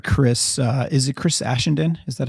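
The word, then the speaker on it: Ashenden: heard i've heard chris uh is it chris aschenden is that how i pronounce it yeah i've heard chris on uh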